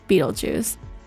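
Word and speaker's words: Betelgeuse: Um, but it's actually pronounced and often spelled Beetlejuice.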